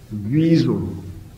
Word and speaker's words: Wiesel: That's the way to pronounce it. Wiesel.